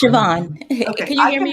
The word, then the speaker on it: Siobhan: Yes, it's Siobhan.